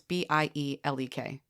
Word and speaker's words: Bielek: I think it's pronounced Bielek. It's Bielek.